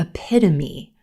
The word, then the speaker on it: epitome: word a epitome epitome a lot of times a native speaker will put the stress in the wrong place in this word so they might say epitome epitome or epitome epitome but our stress is on the second syllable silver pen epitome epitome